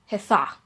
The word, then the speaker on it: Hathach: Okay, so you don't really pronounce the K, but Hathach is how you say it.